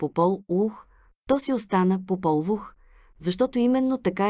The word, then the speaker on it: Попол Вух: отбелязвал писмено в имената попол вух би трябвало да се произнася поп ол у ух не съм обозначил ударението